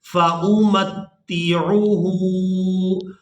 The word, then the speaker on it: فَأُمَتِّعُهُ: جاتے ہیں۔ وَمَن كَفَرَ فَأُمَتِّعُهُ۔ اس لفظ کے ہجے اس طرح سے ہوں گے، فا زبر فا، حمزہ پیش او، فا او، میم تا زبر مت، تا زیر تی، متی، عین پیش عو، فَأُمَتِّعُهُ، ہا الٹا پیش ہو،